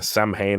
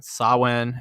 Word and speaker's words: Samhain: Is it pronounced Samhain? That's how I've always heard it pronounced. Samhain? Yeah, and that's how the Wiccan folk singer Alexander James Adams pronounces it in his songs.